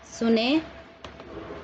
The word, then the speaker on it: सुनें: अगला शब्द सुनते हैं, सुने सुने। तो क्या हुआ, उच्चारण में अंतर, बिंदी के साथ है तो न की ध्वनि होती है, और प्रयोग वही है,